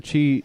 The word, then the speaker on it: Qi: I hate that it is pronounced chi, but it's spelled QI.